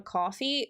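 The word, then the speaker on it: Ko-fi: a is it a coffee or patreon yeah so I I have a um everyone roast me because I refuse to say it right but I say Kofi it's coffee but I say cof yeah um and I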